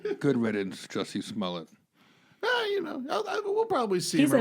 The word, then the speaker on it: Smollett: Of all the pronunciations of it, I like your version better. Smollett, like mullet. You know what I mean? Like, yeah. Smollett.